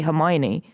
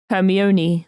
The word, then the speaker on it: Hermione: like Harry Potter and not knowing how to say Hermione yeah I think I always read it as like herion or something I think for the